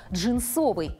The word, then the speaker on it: джинсовый: Если следовать строгой литературной норме, то рекомендуется произносить данное слово с ударной гласной «о» второго слога – «джинсовый».